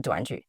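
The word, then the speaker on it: 短剧: two minutes okay actually in China short drama means duanju we pronounce as duanju and we also call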